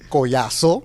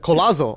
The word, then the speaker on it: Collazo: so what happened was he said koyasso I said it then he then I said how do you say your name he's like colazo I'm like okay colossal